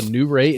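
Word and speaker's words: Nuwray Inn: new rey inn now it's spelled n-u-w-r-a-y-i-n-n it's the new ray and you have um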